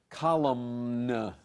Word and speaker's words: column: easy way to say column so the MN in english at the end of a word forget about the end when you're pronouncing it but don't forget it when you're writing it that's right so